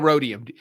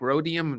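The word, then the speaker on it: rhodium: so hard words like rodium rodium I would just say it in Spanish and ex there's an h and that's the only thing I to remember and then it sounds it's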